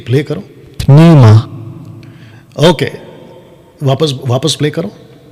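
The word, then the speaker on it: pneuma: सुनिए जी प्ले करो पिनोमा ओके वापस वापस प्ले करो न्यूमा ओके पी बोल रहा है लेकिन साइलेंट में है ना निमा राइट है मैं भी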